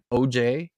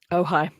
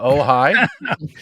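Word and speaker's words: Ojai: recently I believe at the first church of OJ is that really how it's pronounced OJ in California oh high that's pretty oh is it oh high is it OJ AI yeah yeah that's the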